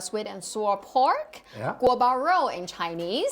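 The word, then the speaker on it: 锅包肉: Guo Bao Rou in Chinese. Guo Bao Rou. Go Baro. Yes, good pronunciation.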